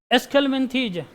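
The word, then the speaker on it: Aschelminthes: तो लिखा जाता है, जो का उच्चारण किया जाता है एस्केलमिंथेज।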